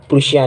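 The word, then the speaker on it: Prussia: मतलब from then onwards, मतलब इसके बाद प्रूशिया, यार पर्शिया मत पढ़ना इसको, बस गूगल पे सर्च करके देखो प्रोनाउंस कैसे करते हैं। प्रूशिया कुछ अलग ही बोलता है वो तो।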